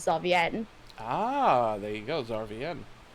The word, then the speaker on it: Zarvienne: or zavi but the actual pronunciation of it is xavier ah there he goes